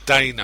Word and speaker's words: Dana: but the main stars are Mike Meyers and Donna Carvey. Is it? Oh, no, sorry. Dana, I think it's pronounced Carvey.